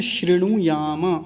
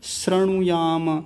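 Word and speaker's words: शृणुयाम: शतम अगला शब्द है श्रेणु याम अब यहां गलती होती है कुछ लोग बोलते हैं श्रु याम श्रु श्रु नहीं श्रेणु ये देखिए श्री जैसे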